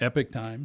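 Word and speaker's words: Epoch Times: I'm Do I say is it Epic Times or Epoch Time? How do you say that? Epic Times. Epic Times.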